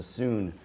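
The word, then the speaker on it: cun: being at the distance of a sun which is spelled c-u-n and that's the width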